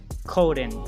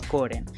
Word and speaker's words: Corden: pellman um meryl streep and james kaden james coden coden yeah james corden sorry i pronounced the name like yeah so and many